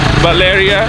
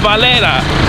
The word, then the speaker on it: Valera: We're getting a real cool look of the downtown area of this city, Valeria. It's called Valera.